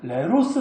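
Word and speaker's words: λῆρος: 말씀에 홉 선언으로 번 어떤 헬라어는 에로스 라고 발음합니다 그들의 일에 로스는 어리석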